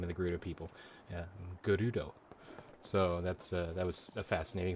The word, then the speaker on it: Gerudo: Fun fact, the Japanese word for gold, or a Japanese word for gold, is pronounced quite similar to the Gerudo, the name of the Gerudo people. Gerudo.